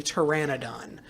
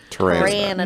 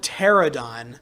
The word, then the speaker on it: Pteranodon: You know, not technically a dinosaur, but you know one creature whose like pronunciation kills me, Pteranodon. Pteranodon. Nobody seems to. So many people call it pterodon, and I'm like, Oh, I have heard it pronounced pterodon.